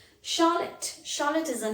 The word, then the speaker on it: Charlotte: you can say charlotte charlotte is a name again ch is pronounced here as sher charlotte machine machine very common